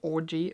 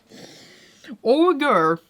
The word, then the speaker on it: ogre: I cannot say the word orgy, no, because it's not an orgy. Ogre, that's how you say it, I think.